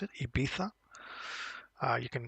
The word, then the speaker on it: Ibiza: Um and yes, this is how you pronounce it. IA. Uh you can say IA, no worries.